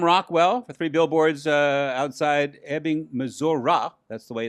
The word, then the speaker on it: Ebbing: You've got Sam Rockwell for Three Billboards Outside Ebbing, Missouri. That's the way it's pronounced, at least by Frances McDormand.